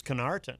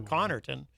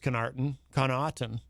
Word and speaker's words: Connarton: That sounds a lot like my name, Connarton, except my name is Connarton, or Connarton, but often mispronounced as Connarton.